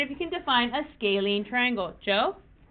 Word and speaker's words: scalene: be looking at that size okay this is pronounced scalene how many raise your hand if you ever